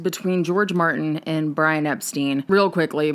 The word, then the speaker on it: Epstein: The Beatles had a rule, an agreement between George Martin and Brian Epstein. Real quickly, Brian's last name in his personal life pronounced Epstein. In the public life, particularly in the US, they pronounced it Epstein